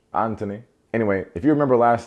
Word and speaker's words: Anthony: eldest son anthony but they don't pronounce the h so they say anthony so it's like jamaican but british anthony anyway if you remember